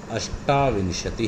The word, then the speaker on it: अष्टाविंशति: तो देखिए 26 यानी 26 को कहते हैं, आप मेरे साथ इसका उच्चारण भी देखिए, सुनिए, षड्विंशति ही, 27 सप्तविंशति ही, 28 अष्टाविंशति ही।